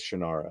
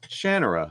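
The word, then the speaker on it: Shannara: for that uh which I always thought was shanara yeah until I saw the interview with Terry Brooks when he said shanara I go great I've been saying it wrong all these years kind of like it's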